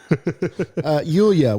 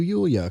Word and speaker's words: Yulya: Yulya. We're doing Yulya now. And Are you one sure of that's the how you say it? Yulya, yeah. All right. Yulya is her name.